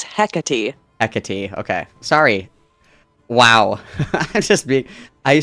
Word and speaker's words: Hecate: Oh, this is how you pronounce the name. Malcolm, it's Hecate. Hecate.